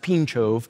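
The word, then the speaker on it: Pińczów: a town in Poland it's spelled p i n c z o w it's pronounced pinov and there at pinov in 1559 a Polish confession was written the the entire pincho confession is structured around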